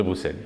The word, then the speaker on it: Bruxelles: jeu, qui s'appelle toujours Bruxelles 1893. Je le prononce à la belge.